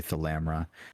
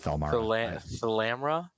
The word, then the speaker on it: Thalamra: no no i it's it's actually the lamra i've been it's not fellmark i was saying it wrong the whole time well thalmara sounds